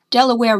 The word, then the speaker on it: Delaware: Delaware rhymes with underwear, but Mount Vernon is on the banks of the Potomac.